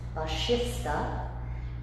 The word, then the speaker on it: Vashista: Vashista is actually the correct pronunciation there.